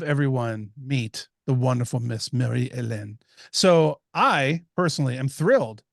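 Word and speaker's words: Marie-Hélène: that came out on February 6 right Mary Marie elen I'm gonna call her MH this entire interview because I cannot say her name properly Marie elen or MH p is our guest and PJ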